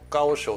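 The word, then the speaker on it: 高手: 人をね、中国語で「あの高い手」って書いて、あの「ガオショウ」って読むんですけど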